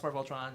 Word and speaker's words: Voltron: That It's rhymes called with- Voltron. You might have heard It of it. rhymes with Tron, like the movie.